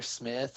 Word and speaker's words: Smyth: is just my name it's Smith it's spelled smt you can also go